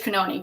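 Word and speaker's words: Cannone: I took a clip of that because it was, I mean, and it's Judge Canoni, correct?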